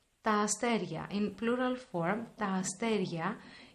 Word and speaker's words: αστέρια: Τα αστέρια. In plural form, τα αστέρια. It is pronounced like αστέρια, like having a γάμα, a hidden consonant, γ.